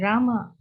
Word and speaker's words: Rama: The words Hare pronounced Hare, Krishna pronounced Krishna, and Rama rhymes with drama are Sanskrit words.